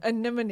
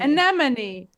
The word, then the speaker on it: anemone: Anemone. Anemone. NMN. I know how it's spelled. I just can't say it. No, but I mean, just try to remember that it's like Anemone. it's Anemone. alternating consonants. NMN.